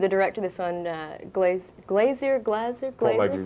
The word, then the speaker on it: Glaser: Now, you mentioned the director of this one, Glazer? Paul Michael Glaser, right, yes.